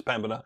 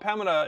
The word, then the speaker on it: Pembina: I always pronounce their name wrong, Pembina or Pembina. I believe it's Pembina.